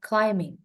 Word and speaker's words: climbing: my cat is or ini bacanya climbing ya b-nya enggak dibaca climbing climbing Yes climbing climbing